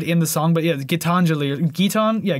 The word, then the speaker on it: Gitanjali: look up how to say this properly uh gitanjali uh which i think he even says you can quietly hear him say it in the song but yeah getanjali guitar yeah gitanjali i even wrote it up like phonetically um